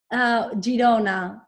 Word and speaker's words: Girona: How do you pronounce My city, Girona, Girona. It's like Girona.